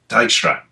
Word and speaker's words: Dijkstra: famous, and I can never remember how to pronounce his name. Is it Dijkstra? Dijkstra.